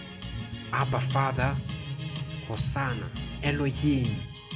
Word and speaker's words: Hosanna: i'll say happy father hosanna that's how you pronounce it in hebrew hoshanah it says it it